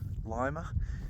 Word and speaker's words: Lima: get a ride into Lima. I don't know why they pronounce it Lima. It's spelt Lima, L-I-M-A.